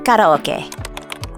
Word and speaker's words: karaoke: finish the day with karaoke, or how the locals say it, karaoke.